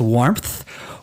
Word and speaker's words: warmth: mind for me is warmth. Warmth. There is a P sound in there, but there is no P in the way it's spelled.